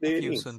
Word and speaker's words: Matheson: It's Kevin Mathewson, but it's spelled Matheson. Scottish, so it Doesn't doesn't matter. actually have a It's W not in it.